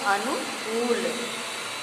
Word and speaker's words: अनुकूल: इसके बाद हमारा अगला शब्द आता है अनुकूल, जबकि सही उच्चारण होगा अनुकूल, क पर बड़ा ऊ का प्रयोग किया जाएगा।